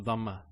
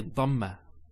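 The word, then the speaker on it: ضمة: Notice when I say dhamma, it's very important. Some people actually they don't say it with a dad. They say it with a dal. So they say dhamma. It's not dhamma. It's dhamma.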